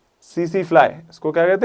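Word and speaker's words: tsetse: T silent रहता है। सी सी ये टी साइलेंट ये टी साइलेंट। टी सी सी फ्लाई। ठीक है? टीसी टिसी फ्लाई नहीं कह देना। सीसी फ्लाई होता है।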